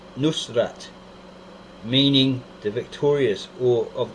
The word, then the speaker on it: Nusrat: version yeah most won't use today and Aramaic pronounced Nusrat meaning the Victorious or of the town of